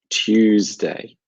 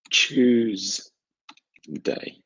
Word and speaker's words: Tuesday: remember this quite easily American pronunciation the second day of the week is Tuesday like the number-two Tuesday I will write this Tuesday so this is the pronunciation Tuesday it sounds like the number-two Tuesday British pronunciation slightly different it's Tuesday so I'll write this for you choose day so what I